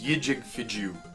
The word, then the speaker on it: JewWario: The next place that I want to talk about is JewWario. That's how I pronounce it.